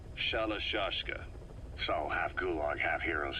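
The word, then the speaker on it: Shalashaska: known about that because somewhere along the line shoshka got stuck on the end of shiroshka the gorillas were used in the name amongst themselves by the time I got to hearing about it pronunciation had wound up as shalashka saw half Gulag half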